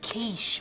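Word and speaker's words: quiche: It's pronounced kiche.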